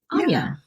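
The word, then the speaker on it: Áine: This month, I'm talking about Anya, and that is Anya.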